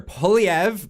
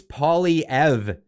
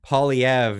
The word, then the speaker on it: Poilievre: become our prime minister it's paulie ev pauliev not no no weird pronunciations and stuff i'm terrible